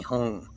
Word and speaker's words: Hum: There is a letter for the ng sound. If the Tibetans wanted it ng, they would have put it ng. But it's Hum. Om Mani Padme Hum. The lips close to finish the syllable.